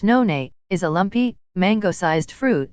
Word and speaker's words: noni: asia especially in polynesia noni pronounced none is a lumpy mango-sized